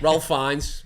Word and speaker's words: Fiennes: I don't know how to pronounce his name. Ralph. Oh, yeah. Ralph Fiennes.